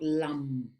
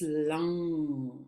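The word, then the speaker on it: लं: They're not shared publicly like this, but just know that the sound of la, which is this one, lang, is a cerebral sound. It's not lam. It's lang, cerebral sound.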